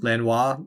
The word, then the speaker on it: Lenoir: Lenoir. It's spelled Lenore. It is spelled Lenore, but it's Simone Lenoir.